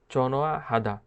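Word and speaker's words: 전화하다: এখানে যে নিয়নটা আছে, নিয়নটা হিউতের কাছে নিয়ে যায় এবং হিউতের উচ্চারণ করে না এবং একসাথে উচ্চারণ করে চনোয়া হাদা।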